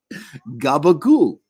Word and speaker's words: gabagool: So change it to an oo and toss out the last syllable. It's just a vowel. Who needs it? Now try it again. Gabagool.